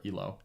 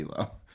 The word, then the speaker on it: Elo: see so yeah uh confirmed via wikipedia it's ello oh or elo elo okay all right i